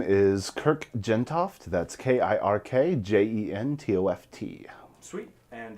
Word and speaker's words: Kirk Jentoft: what is your name and how do you spell it um my name is kirk gentoft that's k-i-r-k j-e-n-t-o-f-t sweet and uh this is